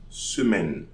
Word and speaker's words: semaine: So, jour, So we are not going to say jours, jour de la semaine. Semaine. So I'm pronouncing the N but not the E, because if I was pronouncing the E, I was going to say semaine.